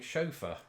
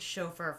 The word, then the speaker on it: chauffeur: She was my chauffeur. I was never a paid chauffeur for him. How did you pronounce it? Chauffeur. See, you're getting the sort of the French down there, I think.